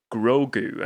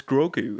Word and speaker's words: Grogu: It is Grogu, and the pronunciation, well, the spelling of that name is Grogu.